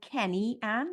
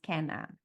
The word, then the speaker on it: Kene-Anne: the baby Ken an so it looks like Kenny an but it's pronounced Ken an um so I just start with that I